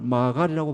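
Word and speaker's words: מעגל: 예, 의의 길이란 말에서 길이란 말은 히브리어로 아갈, 마갈이라고 발음하는데 이것은 가파르고 아주 험하고 좁은 길을 나타내요.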